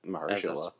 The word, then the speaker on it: Mahershala: It's clearly just Mahershala. Like it's exactly there. There's no trick to it.